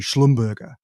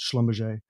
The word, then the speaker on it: Schlumberger: border of Germany and France so the correct pronunciation would be slum burger German name but it's a anglicized Schlumberger and two brothers Konrad and Marcel they were